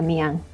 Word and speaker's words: Amiens: yang namanya Ami yang itu tulisan si amiens Tapi bacanya amiang itu sekitar satu jam